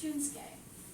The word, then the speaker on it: Shunsuke: And my first student was Shunsuke. That's how you pronounce it, I think.